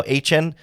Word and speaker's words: Etienne: They lost running back as well, to Trevor Etienne, is how he's pronouncing Etienne now, Etienne, to the Saints.